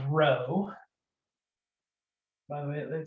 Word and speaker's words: rho: So real quick, this guy, it's the Greek letter rho, R-H-O, but phonetically, it's like row, row, row your boat.